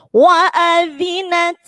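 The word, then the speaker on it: وأذنت: Wa'adhinat. Nah, sama dengan yang tadi. Zanya dikikit, kemudian taknya harus ada hamas. Wa'adhinat. Wa'adhinat. Ya, jangan wa'adhinat lirob kurang. Wa'adhinat dikikit ujung lidahnya.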